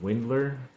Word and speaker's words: Windler: for the New York Knicks g-league team Dylan Windler believe that's how you say it in that